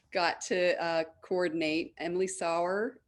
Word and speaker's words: Sauer: to uh coordinate emily sauer am i pronouncing it right flower yeah he just goes